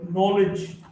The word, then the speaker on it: knowledge: K in the sequence or the cluster KN is not pronounced. No, KN or no, or knife, or knowledge.